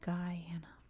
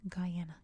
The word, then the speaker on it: Guyana: its own pronunciation so it is Guyana if you're speaking English at least just for reference